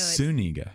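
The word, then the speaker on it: Zúñiga: The Z actually is pronounced as an S. So Zuniga.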